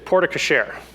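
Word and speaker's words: porte-cochère: From my understanding, it's porte cochere.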